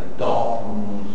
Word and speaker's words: dó: e são os sons dos fundimos hum dó e vem C di H uma espécie de di eh e um o quer dizer a palavra dó pronuncia-se com o aberto e não do ETC Aí temos uma